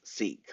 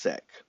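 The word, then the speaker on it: Sikh: Punjabi um especially sick which is seek but it's actually pronounced sick um an ethos of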